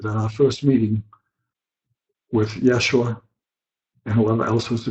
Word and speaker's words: Yeshua: acceptable to him but he prefers to be called 'yeah sure with the jae-sang likho why and the accent on the second syllable yeshua so I shall refer